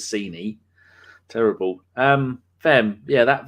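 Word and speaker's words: Sané: people say it phonetically i couldn't even say saney right until she said it was scenie terrible um fem yeah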